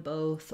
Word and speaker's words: bot: American English, it says this open ah sound. It's not rounded. It's not like the O in both or the OO in boot. And so visualizing it as an A may help you to pronounce that ah bot more easily.